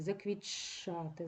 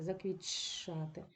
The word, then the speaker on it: заквітчати: в такій групі приголосних ось Т втрачає свою особливість і збігається з ч ми будемо вимовляти ч подовжени заквітшати заквітшати і коритце точно так